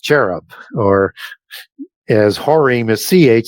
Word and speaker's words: cherub: you get into the caribs in the Middle East. And CH used to be pronounced K in the original, in the Hebrew as carib. So not cherub, or as Horim is